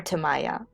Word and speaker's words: Tamiya: how do you pronounce tamiya tamiya or tamaya apparently both pronunciations are somewhat valid here in spain um